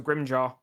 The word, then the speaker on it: Grimmjow: Well, his name is spelled Grimmjow, so Grimjaw.